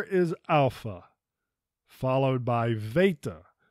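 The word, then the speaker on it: Βήτα: is Alpha followed by Veta this is often pronounced as beta but the correct pronunciation is Veta Yama typically we'll say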